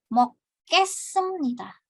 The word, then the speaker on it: 먹겠습니다: Yang ini jadi 먹겠습니다. 먹겠습니다. Karena dia giok bertemu dengan giok kan ya, jadi 먹겠습니다. Yang tadi hages습니다. G di lafalnya hages습니다. 먹겠습니다. Jadi K ya, pelafalannya berubah.